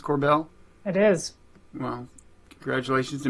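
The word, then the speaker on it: Korbel: the Joseph Corbell, is that the way you pronounce Corbell?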